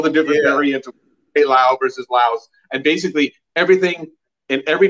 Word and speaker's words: Laos: over a while because the country is named laos yep it's pronounced laos and i used to argue it's pronounced lao